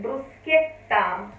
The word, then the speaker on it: bruschetta: a which is a part of the word bruschetta which usually english speakers pronounce if we take off the h